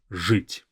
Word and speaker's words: жить: Now, this first ж, it's a very strong ж. Жить. Жить.